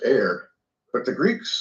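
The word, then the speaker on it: ἀήρ: alpha epsilon rho, but it's pronounced just like we pronounce air.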